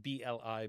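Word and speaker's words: בלי: You could spell it B-L-I, bli.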